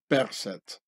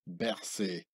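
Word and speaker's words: Berset: runner health minister in the original pharonic way of percet and not like the french camouflaged pronunciation berthie here you see him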